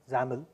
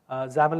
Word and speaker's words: XAML: called main page dot XAML zamel zamel is how we pronounce it this is basically the